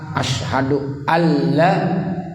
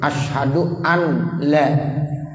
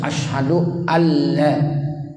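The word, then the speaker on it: أشهد أن لا: Asyhadu anna muhammadar rasulullah yaitu pada saat asyhadu alla itu Nun nya tidak boleh dibaca karena belum mati ketemu lelang itu idgham bilagunnah sehingga nurnya enggak boleh dibaca lagi Jadi jangan sampai kita membaca dalam kalimat Pak sahut Asyhadu an LED itu yang lagi dipermasalahkan Jadi enggak boleh jadi harus asyhadu alla kemudian wa Anda Muhammad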